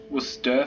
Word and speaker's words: Worcester: Yes, it is pronounced Worcester for people who are watching from outside the UK. English is kind of a weird language.